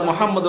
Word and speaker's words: মুহাম্মাদ: ফাতেহা শিক্ষা দিয়েছেন ঠিক কিনা বলেন ঠিক দেখেন মুহাম্মাদুর রাসুলুল্লাহ মুহাম্মাদ শব্দের অর্থ হলো প্রশংসনীয় কি বলেন